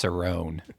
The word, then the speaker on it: Cerrone: it make it happen that's why I pronounced it wrong I know it's Cerone you know now it's